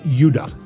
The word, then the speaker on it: Judah: were called Benjamin and Judah more properly pronounced yudah because we didn't get the harder sound to the Jay until about 200 years ago so this is